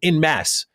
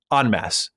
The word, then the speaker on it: en masse: I've heard you say on multiple occasions in masse. For example, the public were playing this game in masse. The term is en masse, pronounced en masse.